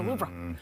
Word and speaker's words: Louvre: It's actually pronounced Louvre with a very soft pronunciation on the R. So Louvre.